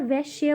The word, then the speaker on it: वैश्य: वैश्य होंगे ठीक है मैं यहां पर वैश्य बोल रही हूं ओके किसी को गलत प्रोनाउंस हो रहा हो ठीक है तो जो